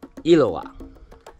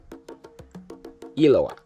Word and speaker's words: Eloah: And that word is Eloah. Eloah. Can you say that? Eloah. Eloah. E-L-O-A-H. Now, the Hebrew way to spell that is different, but that's how it's translated in English.